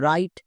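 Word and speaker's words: write: এখানে কিন্তু ডব্লুর উচ্চারণ হয়নি, তাহলে আমরা মনে রাখবো ডব্লুর পরে যখনই আর দেখতে পাবো ডব্লুর উচ্চারণ করব না। যেমন রাইট, একই রকম ভাবে দেখো রং, এখানেও ডব্লু আছে এবং ডব্লু ঠিক পরে কি আছে?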